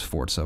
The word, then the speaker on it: Forza: I know it's Forza, but I can't bring myself to pronounce it like that.